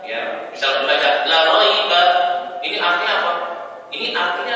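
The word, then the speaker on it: لا ريب: Kalau imam membacanya la raiba, ya, misalnya membaca la raiba, ini artinya apa? Ini artinya adalah apa? Ini artinya penekanan. Tapi kalau dibaca la raiba, ya, panjang maknanya nafi.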